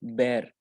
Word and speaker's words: bear: तो एक तो फर्स्ट पहली बात ये है कि जो भालू वाला बेयर होता है इसको हम बियर नहीं बोलते, ठीक है। इट्स नॉट बियर, इट्स बेर, बेर, ओके।